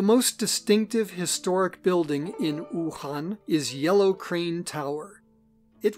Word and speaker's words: Wuhan: of this city as wu han but in pinyin the chinese system of romanization w u is pronounced like the double o's in the english words